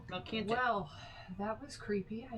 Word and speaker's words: Malcanthet: Malcanthet. Completely wrong. Melcanthic is what I put. That's what I heard. I can't hear. Milk and thick. Melcanthic. Malcanthet. That's how I would say it. Malcanthet.